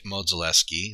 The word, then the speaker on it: Modzelewski: So yeah, the Modzeleskis. Dick Modzelewski is actually Little Mo. His brother, I believe it's Ed, is Big Mo. And it's Mo, not Mod.